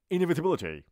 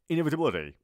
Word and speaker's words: inevitability: اما در تلفظ آمریکایی تیبلتی آخر این لغت دی تلفظ میشه. خیلی اگر تند بگید و لحجه گونا بگید میشه inevitability. اینجوری. حالا آرومتر میگم با تلفظ دی.